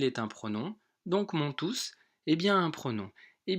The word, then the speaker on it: tous: vont comprendre cette leçon ici je prononce tous tous pour quelle raison je remarque comme tout